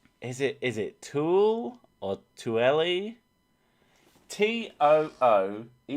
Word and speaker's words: Tooele: Tooele. Tool. Because it looks like pool, which is an area around here, although it's got an added E, which is Poole.